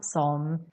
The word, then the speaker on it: sådan: For example, någonstans, någonstans, sådan, sån, and more.